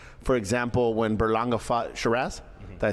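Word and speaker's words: Sheeraz: talks about like for example when Berlanga fought Sharazz. Did I say it right? Sharass.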